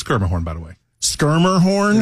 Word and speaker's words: Schermerhorn: Musica or the Schermerhorn that I can never pronounce or whatnot. Schermerhorn, by the way. It's Schermerhorn, by the way.